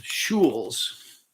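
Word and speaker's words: Schuil: and it's called um shules schulz coffee uh you pronounce it kind of like school but shul and this one happens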